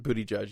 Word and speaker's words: Buttigieg: Booty Judge. Yeah, Close? just Booty Judge. There Okay, Booty Judge.